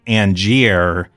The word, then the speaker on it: Angier: has like five names the pronunciation the movie uses is Angier uh but the book